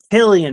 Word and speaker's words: Cillian: All right, folks, for those who didn't know, his name is pronounced Cillian Murphy, not Cillian Murphy.